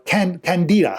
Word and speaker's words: Candida: more specifically a yeast such as candida or candida some people call it candida is another way it's pronounced you can only tell